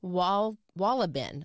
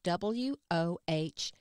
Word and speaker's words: Wohlleben: It's called The Hidden Life of Trees by Peter Wohlleben, I think is how you say his name, Wohlleben.